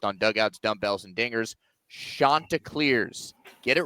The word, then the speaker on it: Chanticleers: The Coastal Carolina, listen to me say it, folks, Chanticleers. It is the Chanticleers, not Chanticleers, not Chanticleers. Who was saying it wrong?